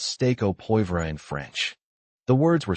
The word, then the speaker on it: poivre: It should be poivre, not pwvre.